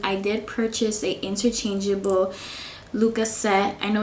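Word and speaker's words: Lykke: did purchase a interchangeable lucas set i know it's spelled l y k k e but i looked at the norwegian pronunciation and i believe it's luca and it means make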